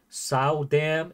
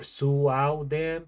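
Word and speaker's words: Soodam: like around 54 W it's not sa dam is or Su Dam pronounce the O like Zoo oh Zam oh sudam not Z hey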